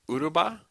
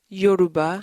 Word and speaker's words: Yoruba: So you can speak Uruba? Yoruba. Yoruba.